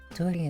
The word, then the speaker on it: Dori: Dori itself is a Persian girl's name for sparkling. More or less, it's pretty much the same pronunciation as the English version, Dori.